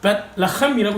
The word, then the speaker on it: 베들레헴: 근데 베들레헴은 베틀레헴이라고 읽어야 돼요.